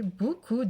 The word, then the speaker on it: beaucoup: And of course the P is silent, so it's going to be in parentheses, because it's the silent letter. So, j'ai mangé beaucoup de bonbons.